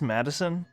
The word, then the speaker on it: Maddison: maddison before this point it's pronounced madison but man i'm shocked